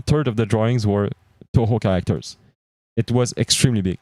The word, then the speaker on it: Toho: Toho, if you don't know about that, search on the internet. It's like 2 who in French, but it's Toho, how it's pronounced.